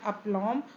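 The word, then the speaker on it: aplomb: है आपका अपलम गाइस इसमें जो यह बी देख रहे हैं यह साइलेंट वर्ड है इसका यहां पे यह साइलेंट है तो अपलम नहीं हो होता है अपलम होता है इसका करेक्ट प्रोनंसिएशन अपलम और इसका जो मतलब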